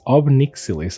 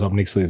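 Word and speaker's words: Ob Nixilis: Well, I never remember how to pronounce the name correctly. It's Obnixilis, I think.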